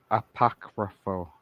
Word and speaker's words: apocryphal: most modern religion IM how do you say that what apoc apocryphal IM no a starts with an A apocryphal apocryphal no a APAC AAC apocryphal yep apocryphal there you go sorry I'm learning no